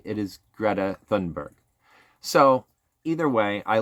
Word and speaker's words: Greta Thunberg: Greta Thunberg.